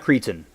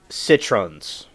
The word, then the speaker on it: citron: No, it's it's not creaton. Hold on. I I said it wrong. Buddhas hand citrons.